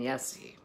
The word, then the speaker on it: Jesse: And they don't pronounce the J's. So I'm caught between just being a plain old American here and saying Jesse or saying Yesse.